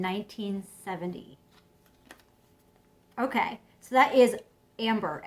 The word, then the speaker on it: Ambre: Okay, so that is Ambre. It's spelled A-M-B-R-E, so that's like ombre or amber.